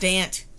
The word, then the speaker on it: Dant: It's pronounced Dant. There's a T.